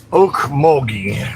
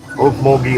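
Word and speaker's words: Okmulgee: Oak Mogi, I think it's how you pronounce it. Okay. M U L G E Oak Mi, Oklahoma.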